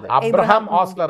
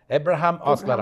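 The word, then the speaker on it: Abraham Ozler: ആ തന്നെ ആ എന്നതിനപ്പുറം എ എന്ന ഇംഗ്ലീഷ് ആൽഫബെറ്റ് ആയിരിക്കും കാരണം ഇവിടുത്തെ ഉച്ചാരണം കുറച്ച് കൺഫ്യൂഷൻ ഉണ്ട് അബ്രഹാം ഓസ്ലർ അല്ല എബ്രഹാം ഓസ്ലർ ആണ് നമ്മൾ പിന്നെ മലയാളീകരിച്ചു അതിനെ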